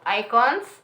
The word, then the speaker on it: IKOJN: Like, yeah, as you can see, this is a fancy shopping bag from IKOJN. The J, I've been told the J is silent, like I had trouble pronouncing it.